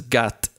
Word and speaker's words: khat: illegal in Israel is known as Gat reflecting its traditional pronunciation among yemeni Arabic Jews for that reason Khat